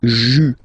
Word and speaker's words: juin: And then here, well, it's a bit tricky, but still, IN goes like un, okay? And then you get juin.